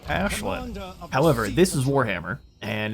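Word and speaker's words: Aislinn: And apparently the the correct pronunciation for this coming from Irish is Ashlin.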